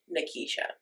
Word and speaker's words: Nikesha: correct my real name is nikisha n that's how you say it n Kisha that's how